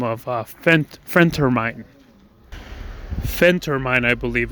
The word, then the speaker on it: phentermine: that goes by the name of friend termine phentermine i believe it's pronounced i haven't got my doctor's degree or